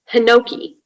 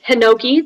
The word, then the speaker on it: hinoki: i am in seventh grade your word is hinoki um could i have all the what do you call it stuff please all the information yeah um so the word is hinoki that's the only pronunciation it's a noun it's